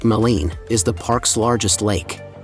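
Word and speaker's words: Maligne: Alberta's Jasper National Park midy Lake pronounced malen is the Park's largest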